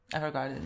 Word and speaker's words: Evergarden: and we're watching Violet Evergarden. Did I say it correctly? Evergarden, yes.